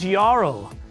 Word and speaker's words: Jarl: a barbarian frost giant yarl but yarl is spelled jarl with a j confusing but at least